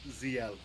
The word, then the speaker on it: Zexal: Apparently the X is silent. Oh, it's supposed to be EXO? No, ZL. EL? Oh, the X is silent. Okay. Yeah. Like Zeal, but ZL.